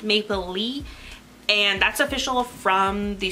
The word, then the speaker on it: Maplelea: describe it so like it's like Maple Leaf but without the F so it's Maple Leaf